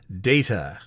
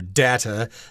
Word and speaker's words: data: worth of forest service data or data you can pronounce it either way so yes we've got